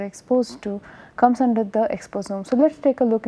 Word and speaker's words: exposome: If you look at it, is spelled as EXPOSOMES, and it is pretty much similar sounding as other omic words such as metagenomes, so metagenomics, or proteomics, metabolomics. So, omics is whenever we